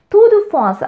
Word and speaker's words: Tour de France: தூது ஃபாஸ் அப்படின்னு ப்ரொனவுன்ஸ் பண்ணுவாங்க ஃப்ரெஞ்சில்.